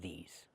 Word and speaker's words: these: Use the long e like green beans plus the zz sound like in zebra.